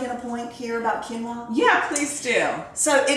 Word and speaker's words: quinoa: Like if you like a traditional chicken and rice dish, do chicken and white quinoa. Okay. So let me also say this, people. It's Quinoa. It is not pronounced quinoa.